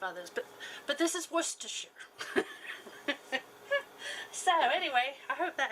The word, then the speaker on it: Worcestershire: of these let's see yep two tablespoons of worcestershire sauce and that's how you say it too